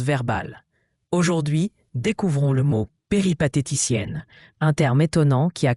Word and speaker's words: péripatéticienne: Péphéticienne se prononce péripathéticienne.